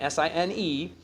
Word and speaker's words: sine: hypotenuse okay the sine SI n e of angle a with written sin a where we will pronounce it sine a is defined as follows